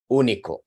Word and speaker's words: único: So be careful, it's all in the stress. If you stress the first syllable, eunuch is eunuco. You need to stress the second syllable, unique, if you want it to be único. Unique.